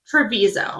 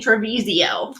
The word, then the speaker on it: Trevizo: and I was like that's not how you say her name Katie what is it I think it's Alexi trevizo Treviso I kept saying trevisio oh Alexi trebizo and